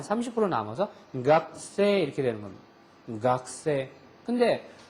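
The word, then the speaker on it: 学生: 그래서 각그가 없어지는 건 아니고 한 30% 남아서 각세 이렇게 되는 겁니다. 각세. 근데 규슈나 저쪽 남쪽으로 가면 아직도 가크세 이렇게 발음하는 사람이 있어요. 그러니까 가크세이가 틀린 게 절대 아니에요. 지역에 따라서는 가쿠세이 하는 사람도 있고 각세 하는 사람도 있다는 겁니다.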